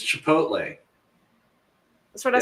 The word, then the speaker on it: Chipotle: back to Taco Tuesday yep braford we had chipot chipot Chipotle Chipotle I'm slaughtering it right Chipotle Marshall's like I'm not saying it I don't know how to pronounce it it's Chipotle that's what I said okay I was gonna